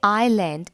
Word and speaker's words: island: it means a small island when i say island its spelling is i s l a n d please notice the letter s is silent here so it's pronounced island and this word i'll